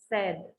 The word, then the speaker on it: said: you to be sure when you pronounce the simple past of the word say is in the simple present and said the simple fast only e the sound is said don't say say when it is in the past okay but the rest